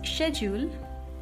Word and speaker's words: schedule: So Brits pronounce it as schedule, schedule, and Americans pronounce it as schedule, schedule.